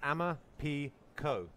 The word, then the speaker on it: Amaphiko: question Emma Pico is Zulu four wings it's pronounced Amma P Co and in Zulu which is where Emma Pico